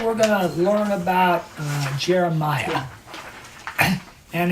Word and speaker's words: Jeremiah: So tonight we're going to learn about Jeremiah. And his name is actually pronounced Yirmiyah. Yirmiyah? Yeah, it's like Yirmeyah. Yirmiyah.